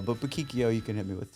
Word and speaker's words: Buquicchio: It's But Bikio you can hit me with too. Yeah. So, I have always said boikio, but